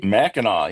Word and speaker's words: Mackinac: You said you went out to, is it Mackinac? Am I saying it correctly? Mackinac, yes.